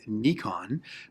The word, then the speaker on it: Nikon: called Nikon, or at least I pronounce it Nikon. Nikon is a Japanese company, and the actual proper pronunciation of their name is Nikon.